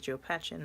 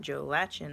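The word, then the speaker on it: Joe Patchen: this is Jo Patchen I've been pronouncing his name completely wrong this whole time his name is Jo Patchen not Jo lachen as I thought it was but this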